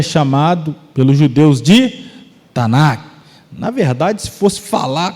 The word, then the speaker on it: Tanakh: Tanakh.